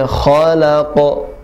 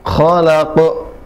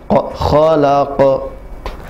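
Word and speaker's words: خلق: Bismi rabbikal ladzi, bukan zi, alladzi khalaq, tidak boleh khalaq, tidak boleh ada hamzah, tidak ke, ya, tapi dipantulkan khalaq.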